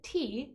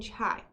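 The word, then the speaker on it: 茶: And if it is the word chai, they received tea from land routes first, because in different regions of China, the character for tea is pronounced either te or chai.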